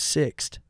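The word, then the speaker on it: Sixt: what's up my name name is six it's spelled s ixt and I was like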